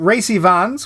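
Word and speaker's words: Rhys Ifans: it was him um Ry Vons which is exactly how it says it's pronounced on uh Wikipedia uh he plays Spike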